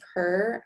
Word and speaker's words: Pur: foods for the day you're allowed to have her i think that's how you pronounce it it's spelled p-u-r per or spry gum any